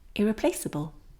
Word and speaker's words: irreplaceable: Irreplace, irreplaceable. You can hear that this letter E is silent because it was already silent in the original word replace.